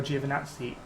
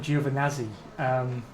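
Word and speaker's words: Giovinazzi: ends with the uh with nazi which is actually the correct pronunciation but people call him juvenazi to avoid it as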